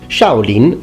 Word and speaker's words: Shaolin: have the Shaolin monk in Chinese is actually pronounced shouting and shouting Mu Shu for the martial art